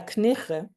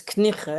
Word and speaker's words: Knigge: in all this, Sarah Knigge. She told me how to say her name just now, so I didn't know. It's Knigge, it's like very Dutch, with lots of G's.